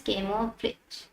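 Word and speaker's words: camouflage: बोलते हैं हम आपका केमो फ्लोज कैमो फ्लेज भी बहुत बच्चे इसको प्रोनाउंस करते हैं बट कैमो फ्लोज ये होता है इसका मतलब ये है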